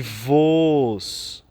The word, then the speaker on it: voos: tornastes próximos então é Cuidado com essas duas palavras porque ela só se diferenciam pelo assento e tem diferença na pronúncia voz com acento e voos sem acento então cuidado nessa expressão